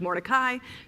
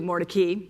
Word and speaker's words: Mordecai: this book is that the family at some point changed the pronunciation of its name from what we might assume the Hebrew translate to Hebrew pronunciation of Morai to Mori.